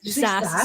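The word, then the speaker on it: SaaS: s AAS how do you say that Grace SAS software as a service yeah SAS I knew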